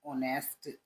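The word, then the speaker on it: honest: बॉय यू आर एन ऑनेस्ट बॉय इसको ऑनेस्ट पढ़ते हैं ऑनेस्ट नहीं पढ़ते एच इसमें में साइलेंट रहता ऑनेस्ट यू आर तुम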